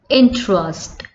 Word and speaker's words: interest: Next word we have, that is interest. Interest, when we are pronouncing it, E is not coming.